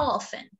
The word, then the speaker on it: often: you check your email remember not to pronounce t it's how often how often often yes